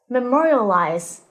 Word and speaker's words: memorialize: phrase memorize the scholars memorialize this word is stressed on the second syllable and is pronounced as